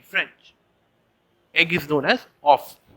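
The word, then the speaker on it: oeuf: egg and just compost egg is known as of o e uf in french egg is known as off o e uf in french then we have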